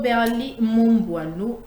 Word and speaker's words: Berly Momboano: Lui, c'est Maître Berly Momboano. J'espère que je n'ai pas massacré votre nom. Non, c'est très bien prononcé.